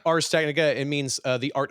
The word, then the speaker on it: Ars Technica: be saying it wrong I always said AR ARS Technica is it RS Technica RS Technica it means uh the